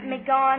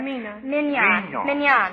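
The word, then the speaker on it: Mignon: Tatania from um um I can spell it but I I never can pronounce it. It's M I G O N something like that. Mone or minan.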